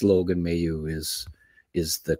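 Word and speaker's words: Mailloux: So we all have our slants on language, but just, I see a lot of people saying Mayu, and it's Logan Mayu is the correct pronunciation on him.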